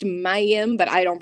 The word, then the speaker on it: Mayim: raw I started researching the name it's actually pronounced Mayim but I don't pronounce it like that because